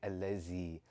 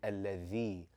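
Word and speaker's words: الذي: A lot of us have grown up saying allazi, yukazzibu. And what is it that differentiates that from saying alladhi and yukazzibu?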